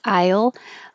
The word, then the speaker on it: I'll: The contraction I'll can sound the same as aisle in a store if you're being careful.